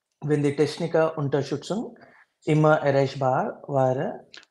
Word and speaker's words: wäre: Wenn die Techniker-Unterstützung immer erreichbar wäre, Not vara. This a umlaut, könnt, right? How do you say? You say wäre, air in English and wäre, just don't say the r part.